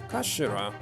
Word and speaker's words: kashira: It's written as head in Japanese, but it's pronounced as kashira, I believe.